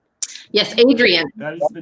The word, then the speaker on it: Adrian: Adrian. Like Rocky.